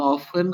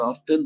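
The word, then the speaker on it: often: আর ওইখানে অফেন আর অফটেন দুইটাই correct. অফেন হচ্ছে ব্রিটিশ উচ্চারণ আর অফটেন হচ্ছে আমেরিকান উচ্চারণ।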